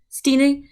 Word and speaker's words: Stina: So is it Stina or Stein? I don't know how you pronounce that. Stina.